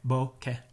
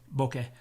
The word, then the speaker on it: bokeh: it pronounced different ways I assure you it is actually pronounced bouquet bouquet bouquet it's Japanese I lived